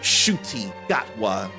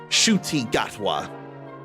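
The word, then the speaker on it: Ncuti Gatwa: That name is pronounced shy. I would never get that unless it was actually spoken like it has been. Shuty Gatwa.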